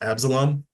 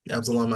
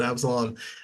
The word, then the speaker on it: Absalom: antagonist his name is abelam Absalom I I think I've been mispronouncing that name for a while but Absalom and that's that's the